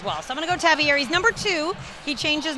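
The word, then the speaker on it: Tavierre: this year tavier Thomas it's not tavier Levy Smith wants to make sure everybody knows his name is pronounced tavier he had a pick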